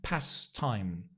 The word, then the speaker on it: pastimes: or past times again notice the Past Times that t actually when we pronounce it we don't say it we're very lazy in English if it's difficult to pronounce consonants we just drop one sound pass time not the T best no what am